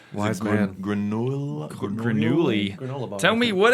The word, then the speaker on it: grenouille: Grenouille. Grenouille. I think the ouille is one of the hardest ones.